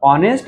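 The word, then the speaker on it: honest: depend करते त्याच्या उच्चारणावर ऑनेस्ट या शब्दाचे जे उच्चारण आहे ते होते म्हणजेच हा जो आहे तो सायलेंट आहे त्या उच्चारण ऑनेस्ट होते म्हणून नेस्ट म्हटल तसच अवर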